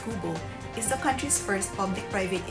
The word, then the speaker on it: QBO: QBO, pronounced as Kubo, is the country's first